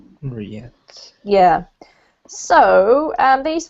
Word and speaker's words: Riyadh: I haven't really got many comments about words, except for this city here is pronounced in English anyway, Riyadh. Riyadh.